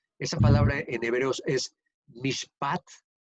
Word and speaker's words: mishpat: La primera ocasión que se dice esta palabra, que significa, esa palabra en hebreos es mishpat, mishpat, M-I-S-H-P-A-T, mishpat, eh, significa propiamente un veredicto.